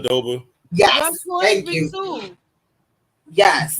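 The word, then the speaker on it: Aduba: Oh, and Uzo, I forget how to pronounce her last name. Adoba.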